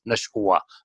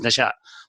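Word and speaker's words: نشؤا: If you pronounce it like that, it doesn't make any sense. Nashwa, obviously, it's not pronounced this way. It is Nasha.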